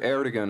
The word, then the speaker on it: Ertegun: Ertegun of Atlantic produced it, yes? Yeah, he did it. Have I pronounced his name correctly?